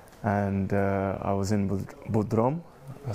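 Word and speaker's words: Bodrum: in the summer and uh I was in Budrom I said it right Broom Bodroom and uh I remember I was I saw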